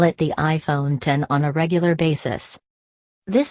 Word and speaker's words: iPhone X: people are simply going to call it the iPhone X and not pronounce it as iPhone 10 Apple knows this and the company only uses the X logo in its promotional materials Jony ive says iPhone 10 in the company's keynote video but I'd be